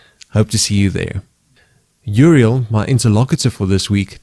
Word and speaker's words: Uriel: Uriel. Uriel. Yeah. Okay, that's very interesting. How do you spell that? U-R-I-E-L.